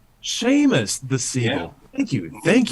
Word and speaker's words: Seamus: of comment one one last one from uh simus sima siebel nothing in the i oh i'm sorry it's pronounced sheamus sheamus the ceo thank you thank you that helps